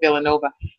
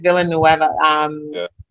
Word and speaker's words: Villanueva: I think I was going to say Villanova, but I think it's Villanueva.